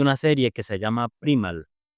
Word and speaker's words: Primal: de Primal, o se escribe Primal, se pronuncia Primal, porque el creador decidió también incluir a su otro personaje Ajá.